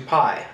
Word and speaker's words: Pi: Pine Patel and because his sound his name sounds like the word pissing he changes his name to piie as in 3.14 um and you know